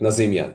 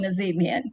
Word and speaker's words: Nazemian: And now it's my privilege to introduce our speaker for today's session, Coach Nazimian. Did I spell did I pronounce that correctly? Coach, that's correct. Nazimian. Yes, Nazimian.